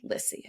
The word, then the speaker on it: Lissy: I always have to say like Lizzy but with S's and people say lissy and I'm like lissy exactly you know I have